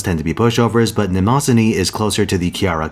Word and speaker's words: Mnemosyne: If I'm reading this pronunciation guide right, apparently that's how you say it. Normally, event final bosses tend to be pushovers, but Mnemosyne is closer to the Kiara Kama end of the spectrum.